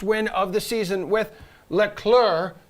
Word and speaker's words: Leclerc: of the season with leclerc you do not pronounce the c finishing second all right